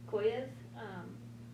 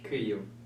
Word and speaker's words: Kyiv: They started bombing Kyiv. Pronounced that wrong. Kyiv.